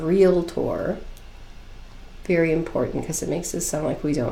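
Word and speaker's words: Realtor: property associated with it agent is aware that real lot tour is not the correct spelling or pronunciation of real tour very important because it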